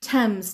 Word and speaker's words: Thames: Thames. T-H A-M-E-S. میدونم سپلینگ این کلمه خیلی راحت نیست. A نوشته میشه، A خونده میشه، بله.